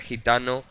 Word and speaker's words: gitano: nos llevan una voz se pronuncian como el sonido j por ejemplo gerente gitano gente girasol general re general si recordamos